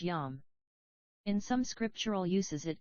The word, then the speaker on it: yom: The problem is resolved by looking at the use of the word day in Hebrew, pronounced yom.